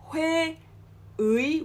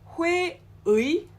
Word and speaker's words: 회의: In this case, we do not pronounce it as 의. Okay, we pronounce it as 이. Okay, so it's not 회의, whereas it's 회의.